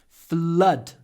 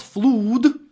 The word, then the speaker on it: flood: St Petersburg in 1824 flood flood it's not flu it's flood two words like this flood and blood remember flood and blood